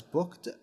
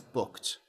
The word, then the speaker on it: booked: I booked an appointment when you say I booked an appointment you do not pronounce it as booked like a normal di you can but you better not uh it's more natural to pronounce it as booked uh booked uh because it ends in K and K is one